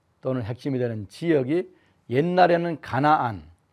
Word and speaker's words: 가나안: 이 레반트에서 그 다음에 핵심이 되는 나라가, 또는 핵심이 되는 지역이 옛날에는 가나안, 가나안의 발음은 캐나안이라고 하는데요, 가나안에 살던 사람들을 몰아내고 들어간 히브리족이 세운 이스라엘이라고 하는 나라가 있습니다.